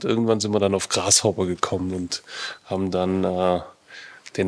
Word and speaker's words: Grashobber: Ja, also das heißt jetzt, genau ausgesprochen, der Grashopper.